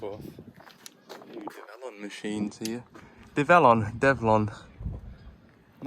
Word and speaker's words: DEVELON: on machines here develon devlon I'm not sure how to pronounce it the new name is a combination of the word development and onwards so if you go by that it should be develon but when you glance